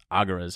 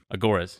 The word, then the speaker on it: agoras: i'll go to these little aguras i think they're called just gathering places agoras yeah thank you of uh how do